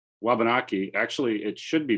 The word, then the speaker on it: Wabanaki: come to be well the w in our language is silent so when i say wabanaki actually it should be